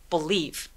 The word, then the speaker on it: believe: 요거 맨 마지막에 오는 이 발음은 묵음 처리되죠? 강세는 이음절에 주니까 맨 첫 번째 b 부분은 굉장히 애매하게 작게 소리 내주세요. 한번 해볼게요. believe.